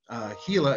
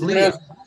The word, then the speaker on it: Glia: Gila, is that like Gila Monster, Gary? Is that how you say it? I mean, I assume it is. No, it's Glia. It's pronounced Glia.